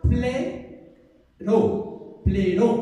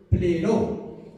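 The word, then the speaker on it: πληρόω: La palabra en griego se escribe plero, con doble O. La P, la L, la E, la R y doble O. Plero.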